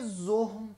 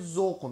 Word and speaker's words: زهم: خب اول از این که بهتون بگم که بوی زهم تلفظ درست این کلمه است. بعضیا به اشتباه میگن بوی زغم میده یا بوی زخم میده، این اشتباهه. تلفظ درستش بوی زهمه که با هی دو چشم هم نوشته میشه.